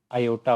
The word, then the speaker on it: iota: Imaginary numbers वो होते हैं जिसके अंदर हमारे पास आयोटा होता है। इसको आप इस तरह लिखते हैं, इसकी स्पेलिंग ये होते हैं IOTA, आयोटा।